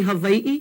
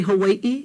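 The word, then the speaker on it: Hawaiʻi: But V sounds, you can say Hawaii, you can say Hawaii. You're not gonna be wrong.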